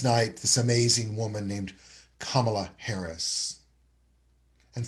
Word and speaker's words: Kamala: Last night, this amazing woman named Kamala Harris. And for those who don't know how to say her first name, it is Kamala.